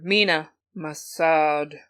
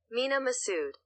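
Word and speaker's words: Mena Massoud: say it right either Mina masad um yeah Mina we'll call him Mina I don't I'm sorry I'm sorry no let me do it right Mina Masood Mina Masood very handsome and he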